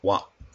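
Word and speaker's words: 話: or sometimes story and it is sometimes pronounced wah so you have electricity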